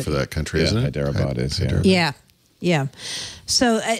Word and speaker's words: Hyderabad: They didn't give a date on this in how do you pronounce this? Hyderabad. Hyderabad, right?